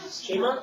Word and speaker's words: Shema: No, para pronunciarlo, se lo quiero decir a una persona. Shema.